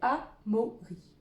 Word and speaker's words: Amaury: Ce petit garçon, il s'appelle Amaury. Amaury. Amaury. Amaury. Ah, trois syllabes. La première syllabe que j'entends, A. Après, j'entends mo, ri. A, mo, ri.